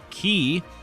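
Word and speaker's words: χ: Unchained key which is also spelled with an X but this time is pronounced key is basically the same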